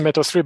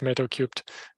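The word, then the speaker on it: Metal3: metal cubed um yeah you can pronounce the meta-3 but the canonical way is metal cubed really the three is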